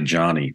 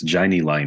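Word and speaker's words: Jani Lane: and the long departed I always get his pronounced his first name incorrectly I say Johnny but it's Janie Lane I think isn't it but you did some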